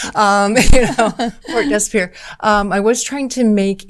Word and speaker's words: Port Desbier: Well, I was trying to make port, and most people say it Desbier because that's more the English version, and you're the first person to pronounce it correctly. Port Desbier.